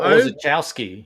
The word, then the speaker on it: Orzechowski: I don't know if I want to really try to pronounce that one, but he's the letterer. So Tom Orzechowski.